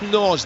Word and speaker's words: Nagy: It's spelled Nagy, but I'm sure it's Norge, the former Bristol City player.